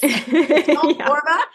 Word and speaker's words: Borba: So I'm Michele Borba, and Borba rhymes with Zorba. You got this. Borba.